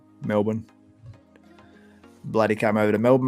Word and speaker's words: Melbourne: in Melbourne before or is American school at Melbourne mean is the way it looks like it's pronounced but we call it Melbourne Melbourne bloody came over to Melbourne mate Sweden do